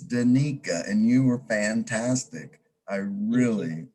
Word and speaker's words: Danica: i want to apologize for mispronouncing your name it's danika and you were fantastic